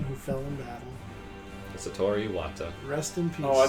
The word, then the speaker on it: Iwata: Like Iwata? Like I actually don't remember. You just call him like Iowata or Okay. something. You threw in an extra syllable.